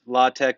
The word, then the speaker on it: LaTeX: thing called law tech it's pronounced law tech or latex but it's spell latex so it's a typesetting